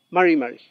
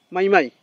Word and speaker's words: mari mari: Sino, mari, mari. Tampoco es mai, mai. Mai, mai, peñi. No es mai, mai. Es mari, mari.